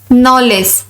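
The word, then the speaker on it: knowledge: नॉलेज, नॉलेज जानकारी, जानकारी यहां बोलते टाइम के साइलेंट रहेगा।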